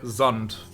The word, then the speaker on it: Sand: of what i mean in like german you would say zond right for like sand ascent and are basically the same words built exactly the same the pronunciation is slightly different on the a as well but that's fine it's just that for some reason english wants that to be like a sharp s and german uses a